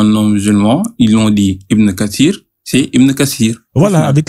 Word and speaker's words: Ibn Kathir: Là là vous venez de dire exactement Ibn Katsir. C'est très bien. Oui mais justement moi Kassir comme vous dites ça s'écrit comment ?